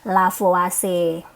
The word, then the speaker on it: Lavoisier: Berarti ini sama dengan hukum kekekalan massa, atau adik-adik mengenalnya dengan hukum Lavoisier ya tulisannya ya, tapi sebenarnya bacanya adalah Lavoisier.